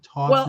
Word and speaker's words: Taunton: You're originally from, how do I pronounce it? Taunton, well, I'm originally from Boston, and I was raised in Taunton, which is southeastern Massachusetts.